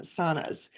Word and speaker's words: sauna: here call them um saunas but I know up there it's pronounced sauna because that's the the proper Finnish pronunciation. Finnish name the Finnish pronunciation.